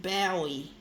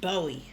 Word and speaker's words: Bowie: I think the English people call him David Bowie. We Aussies call him David Bowie.